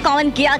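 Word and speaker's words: Karmann Ghia: let's by वन भाई इसका pronounce एशन है कौन गया करके क्योंकि ये बेसिकली जर्मन की है और इसको सबसे पहले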